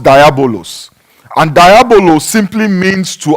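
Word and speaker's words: διάβολος: Now that word or that name, devil, is actually comes from a Greek word that is pronounced diabolos.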